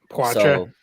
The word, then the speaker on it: Poitras: But maybe guys, your opinions on Lohrei and was it Poitras? Is that how you say it? Yeah, Poitras.